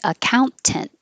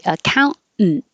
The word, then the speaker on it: accountant: So this one you don't have to say the T either, but now you can make a syllabic in for the final int. So you can say accountant, no problem, but you